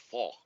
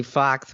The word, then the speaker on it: Fox: It's pronounced fall because X's are pronounced as like H's in Spanish, right?